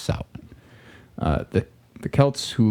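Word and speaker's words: Samhain: s a m ha a i n but pronounced Sal uh the the Kelts who lived 2,000 years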